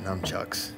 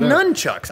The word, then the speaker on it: nunchucks: numb chucks what what those are numb chucks oh my God wait no candles I'm Chucks why are you seeing numb chucks because that's that's a funny way to say it wrong no you're dude you didn't even know that was wrong until I just pointed out nunchucks I know that what